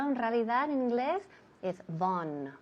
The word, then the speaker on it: Vaughan: Claro, todo el mundo aquí en España dice Vaughan Sistemas. Claro, por supuesto aquí todo el mundo conoce la empresa así. Pero en realidad en inglés es Vaughan. Vaughan.